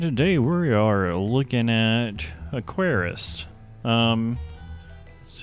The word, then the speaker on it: Aquarist: Hello, this is YoloHobo, and today we are looking at Aquarist.